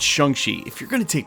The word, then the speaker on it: Shang-Chi: If it was supposed to be Shang-Chi, we should have seen him 2 or 3 more times.